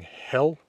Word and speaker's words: Hel: reconstructed Old Norse pronunciation rather than modern Icelandic pronunciation, which is true of all my videos. I will often be mentioning hell and Valhöll.